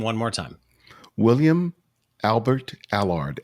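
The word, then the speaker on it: Allard: say the name one more time William Albert a lard a lard is spelled a ll AR D okay so go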